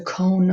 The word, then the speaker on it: cone: I don't hear the E, but I hear the O. So that's a long O.